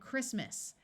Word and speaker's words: Christmas: the t is pronounced and Christmas notice that the CH takes its second sound of C in this word most words with a